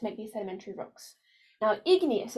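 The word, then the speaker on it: igneous: these sedimentary rocks now ignas is a clue in that word too it sounds like the word ignite so to ignite something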